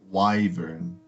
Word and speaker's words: wyvern: candle lit the candle oh by the way it is wyvern yes that is apparently the pronunciation cool so it is